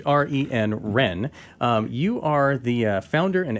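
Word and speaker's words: Hren: it Josh so Joshua Ren is that how you pronounce it that's right yeah it's a silent H re and Ren you are the founder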